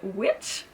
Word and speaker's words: Witch: lancé une communauté de sorcières bienveillantes qui s'appelle Witch. En fait, ça s'écrit OUITCH.